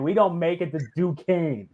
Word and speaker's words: Duquesne: And And it's- Duquesne and Duquesne. That's how you say it. Duquesne.